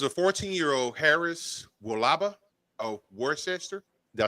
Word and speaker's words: Worcester: WRCE and stir. Okay, that makes sense.